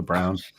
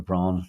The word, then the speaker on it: Braun: It's like Eva Brown or Eva Braun, depending on your German pronunciations.